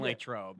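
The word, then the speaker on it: Latrobe: I'll see you in Lake Trobe. Yeah, sounds good. That's how the locals say it.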